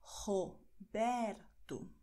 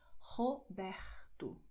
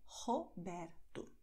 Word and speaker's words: Roberto: Zuerst hier Kehle und dann nur Zunge. Roberto. Okay? Obwohl in vielen Regionen von Brasilien eher Roberto ausgesprochen wird. Dann beides mit der Kehle. Okay? Aber in São Paulo sagen wir Roberto.